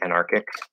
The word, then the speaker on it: anarchic: So one word that stood out to me, they said like anarchic. Anarchic. And she actually did it in both positions. She did because the first CH is actually pronounced as a K here, and she said like anarchic, anarchic.